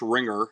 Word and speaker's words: RINGR: Just search Ringer, and it's spelled RINGR.